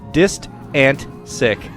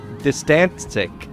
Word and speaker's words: Distantsic: And then he says, "Also, just saying it's pronounced Distantsic. Distantsic.